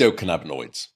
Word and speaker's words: endocannabinoids: you can tell me how to pronounce this, endocannabinoids. Am I saying that correctly? Cannabinoids? Yeah, you are. How do you say this? What's the proper pronunciation on this? Endocannabinoids.